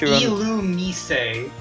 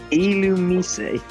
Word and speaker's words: Illumise: It's pronounced Illumise. Illumise.